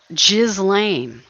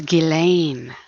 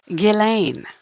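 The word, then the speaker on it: Ghislaine: it they pronounce it the s is silent it's not jizzlain like a jiz bucket no it's gillain that's how they pronounce it very fancy very unique name Gileain.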